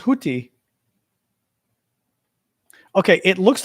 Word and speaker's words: Houthi: Arabic sound represented by the Arabic letter similar to an aspirated T, has no unambiguous English translation. The closest approximation is TH, as it represents the sound in boathouse. Hootie.